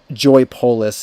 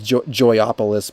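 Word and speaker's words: Joypolis: sell that um I'm pretty sure it's pronounced Joy polis yeah I used to think it was joyopolis but there's no o in there um but yeah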